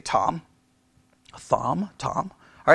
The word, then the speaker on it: Thom: now i guess you would say tom thom tom all right um t-h-o-m all right uh however you want to pronounce his name all right uh maybe his